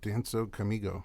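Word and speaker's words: Dança Comigo: And we went through your awesome things that you've done, including Danzo Comigo.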